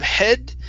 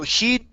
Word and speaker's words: he'd: a manner before okay let's try that long e instead of head so he'd never seen he'd never seen he'd never seen such manners before okay one more time e is your tongue in the back he he'd never seen he'd